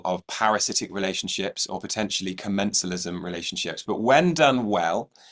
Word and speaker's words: commensalism: Commensalism?